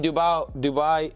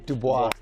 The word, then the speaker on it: Dubois: So I think he's seen Dubai. I can't say his name. Dubois.